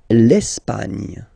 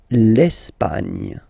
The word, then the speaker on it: Espagne: L'Espagne. L'Espagne. Okay, don't insist on the final E because basically it's not pronounced.